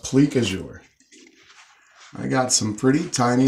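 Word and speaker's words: plique-à-jour: pleak azure in this i may be pronouncing that wrong it could be pique a jours i can hear the french people already very upset about that i can't say i played me on that one so i think it's pronounced plique azure i got some pretty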